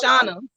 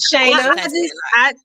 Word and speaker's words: Shayna: You keep calling me Shauna. So I'll drive. Don't worry. Shayna.